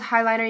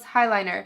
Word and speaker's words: Highliner: And yes, it's called highliner. You guys always comment like, are you saying it right? Yes, it's the Marc Jacobs highliner.